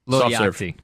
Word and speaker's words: Lil Yachty: Like the board game? Yahtzee? Lil Yachty? Lil, L-I-L. Oh, Lil. Lil. Yeah. Yachty. Oh, Little Yachty.